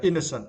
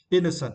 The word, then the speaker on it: innocent: is uh innocent yeah innocent and for this words you need to Str the first syllable right innocent it is now this